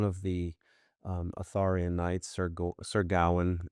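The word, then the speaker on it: Sir Gawain: the um Atharian Knights, Sir Sergawan is the proper pronunciation from what I understand.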